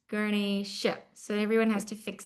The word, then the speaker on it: Ganesha: Everybody, especially those here in the West Indies, his name is not Ganesh. So, I mean, you can call him whatever you want if you're best friends with him, but you could also know what his real name is. It's not Ganesh, it's Ganesha.